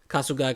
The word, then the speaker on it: Kasugai: it's something exactly yeah castle guy crow castle guy crow okay that's how i would say because there's an i at the end um but yeah and